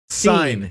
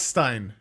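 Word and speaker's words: Sein: she knew immediately wow sign not Stein SE rewind it just a touch let's see how she pronounces it sure we're terrible at this dude I know it's so funny sign sign okay 29 years after death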